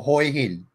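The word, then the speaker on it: Hua Hin: Wah Hin or Hoi Hin?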